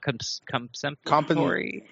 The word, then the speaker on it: compensatory: Compensatory.